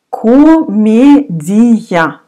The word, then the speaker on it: Комедия: Комедия. Again, O you will pronounce like A.